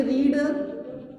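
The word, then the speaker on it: read: Second form होती है रेड और थर्ड फॉर्म होती है रीड। तीनों फॉर्म की स्पेलिंग सेम है, रीड, रेड, रीड। पढ़ने का अंतर केवल फर्स्ट फॉर्म को रीड पढ़ते हैं, सेकेंड फॉर्म को रेड पढ़ते हैं और थर्ड फॉर्म को वापस रीड पढ़ते हैं।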